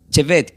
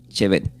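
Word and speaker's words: שֵׁבֶט: se pronuncia como eh Chevet, que sería S h, la B corta, la E y la T. Chevet.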